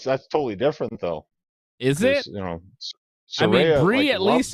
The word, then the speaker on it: Saraya: But the promo of the night was definitely Saraya and Saraya. That's how she pronounces it.